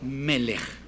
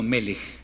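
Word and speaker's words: מלך: a ver con esta la palabra melej no melj no melej porque cuando es gural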